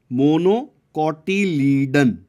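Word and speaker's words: monocotyledon: यहाँ पे हिंदी में थोड़ा ट्राई किया है, मोनोकोटिलीडन। ठीक है, कोटिलीडन, इसका क्या होता है, मोनोकोटिलीडनस, डाइकोटिलीडनस। ठीक है, इसका प्रोनाउंसिएशन ऐसे आपको करना है।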